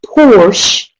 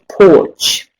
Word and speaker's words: Porsche: let you know that it is pronounced Porsche not porch okay so that's the